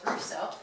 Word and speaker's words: Russo: volunteers mrs jordan he pronounced my last name right so it's russo um george the camera